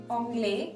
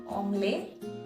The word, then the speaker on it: anglais: So yeah, je parle anglais, hindi et français. English, Hindi and French. So yeah, anglais. I told you last letter is sometimes not pronounced.